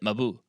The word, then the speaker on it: Mabuse: And even I heard Fritz Lang in an interview pronounce it Mabuse.